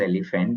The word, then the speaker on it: EleFant: It's a very simple pronunciation as elephant only, just like what एलिफेंट you only.